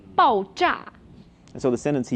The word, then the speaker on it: 爆炸: 爆炸. So it sounds like bang, right? 爆炸.